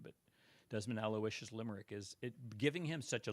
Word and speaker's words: Aloysius: And then Aloysius is his middle name because it's just the dopiest name in the world.